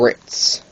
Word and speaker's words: writ: do these things called ritz all right or something like that i'm just going to say rit because that's how it's spelt w-r-i-t that's how it's spelled